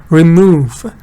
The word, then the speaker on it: remove: So stress is on this part of the word. So it's the da, remove, right?